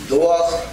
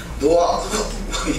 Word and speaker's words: 노아흐: 나서 좀 불편하긴 합니다만 노아흐 전혀 들어보지 못한 이름 같은 그런 발음이 나옵니다. 그리고 제가 어느 본토 발음은 아닙니다. 그렇게 다르구나 라고 이해하는 정도만 되겠습니다. 노아흐 이렇게 돼요. 노아흐.